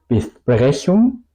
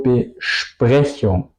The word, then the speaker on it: Besprechung: No digo Besprechung, digo Besprechung.